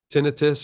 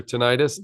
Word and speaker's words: tinnitus: let you know um tinnitus or tinnitus depending on how you um pronounce it will that help